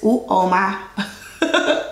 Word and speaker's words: Uoma: He says Uoma.